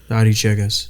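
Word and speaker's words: Aréchiga: Arichegas.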